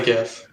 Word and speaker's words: GIF: Also, Brandon, is it pronounced GIF or GIF? Definitely GIF. Yeah. 100% GIF.